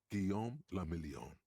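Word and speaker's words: Guillaume Le Million: meant only one thing Gom lilon if it doesn't rhyme you're not pronouncing it right out of the dazzling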